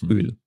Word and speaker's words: Öl: Yes, I'm also maybe slightly exaggerating it when I pronounce the long one. So it's like Öl, Olivenöl.